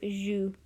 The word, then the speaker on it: joues: Notice how even though it has an S on the end, the pronunciation doesn't change, and it's a very common mistake in beginners to want to say the S at the end of the word.